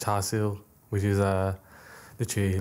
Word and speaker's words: char siu: in Chinese, it's pronounced char siu, which is literally, like, one of my favourites.